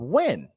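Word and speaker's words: Nguyen: and he has a last name of when uh but it's spelled n g y-u-e-n when that's how you spell it okay they're naming their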